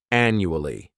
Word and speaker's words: annually: This word has four syllables and the stress is on that first syllable. The second syllable, it's like you're just saying that letter u. And the third syllable has that schwa annu ali annually.